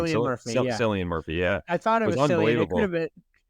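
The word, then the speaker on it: Cillian Murphy: it selan how do you say his name silan Murphy yeah I thought it was I don't believe it's Killian Murphy and I don't mean that sarcastically I there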